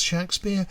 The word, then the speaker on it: Shakspere: For those of you wondering why I pronounce the name as Shakespeare, it's because I'm using the spelling on his baptism entry. In his personal life, the man from Stratford never spelled his name with an E after the letter K.